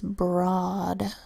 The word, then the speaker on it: broad: the ro ad says broad usually the Oh a makes a long o sound Oh but in this word it makes this short o sound oh that's unexpected so it's a sight word but a broad next